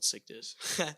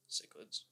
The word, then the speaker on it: cichlid: I'll spell it for you. I gotta spell cichlids. It's like CHICLID or something. Cichlids.